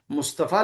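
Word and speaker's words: مصطفی: जैसे मुस्तफा लिखा है तो वो आ पढ़ा जाएगा।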